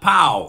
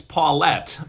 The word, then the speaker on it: Paulette: want to say pal it's not POW its Paulette did you send you